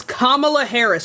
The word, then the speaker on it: Kamala Harris: It's Kamala Harris. It is Kamala Harris.